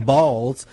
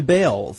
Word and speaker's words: Baals: After all, the family did change the pronunciation of their last name from Baals to Bales.